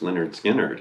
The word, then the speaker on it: Lynyrd Skynyrd: first learn skinner album pronounced leonard skynyrd and it's the swampy